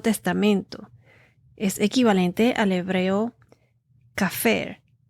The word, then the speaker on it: kaphar: lugares del Antiguo Testamento es equivalente al hebreo cafer k a p h a r que significa